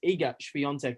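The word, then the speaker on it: Iga Świątek: so eagest fiance and she actually corrected everybody it is eager beyonce so we've had it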